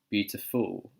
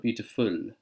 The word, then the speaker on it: beautiful: I don't hear the L at the end of beautiful. We call this a dark L, okay? Now, can you hear the difference between beautiful and beautiful? Beautiful and beautiful. The difference between the two L's there is, in the first version, the tongue touched the top of my mouth. Beautiful. But for the dark L, we don't want to do that. So I suggest you go and practice your dark L if you're struggling with this, okay?